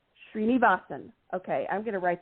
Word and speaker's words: Srinivasan: It's Srinivasan. Srinivasan.